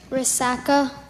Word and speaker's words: resaca: the word again Resaca can you say it Resaca Resaca Resaca are there any alternate pronunciations I just have Resaca now the definition